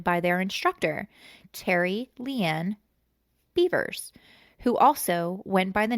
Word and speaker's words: Bevers: Missy beavers stop yeah last name is beavers you know what's crazy though is it's spelled bever b vs so I always thought it was bever like when I would read about it but it's it's beavers okay yeah all right